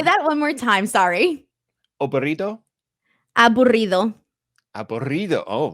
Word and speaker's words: aburrido: Today, I've got random vocabulary for you to pronounce. So, abordido. Oh, this one's going to be hard. He gave you double R's there. Aburrido?